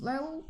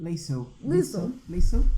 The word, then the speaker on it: Liesel: The oldest is Lyle. How do you say her name? Show me. Which one? The first one. Liesel.